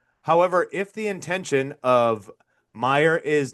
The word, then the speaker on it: Mayer: Marcel Marcelo Mayer has uh or Marcelo Meyer. Marcelo. It's Meyer. I've been saying mayor. It's Meyer. It's spelled like Mayer.